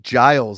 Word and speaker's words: Giles: something like that Wy pronounced it Giles like Niles who AFL claiming they're